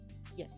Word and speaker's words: llet: In Catalan, él beu yet. Kind of like Y-E-T yet in English. That's what I have to remember as the pronunciation.